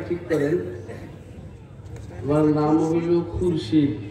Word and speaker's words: খুরশিদ: আর উচ্চারণ করতে কি করবেন? বলে না কি? খুরশিদ। তিনজনে বলছি খুরশিদ। খুরশিদ।